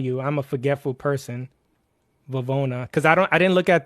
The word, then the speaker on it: Vivona: Vivona, everybody does. I've been getting Vivionas. I've been getting Vivanos. It's Vivona. Vivona.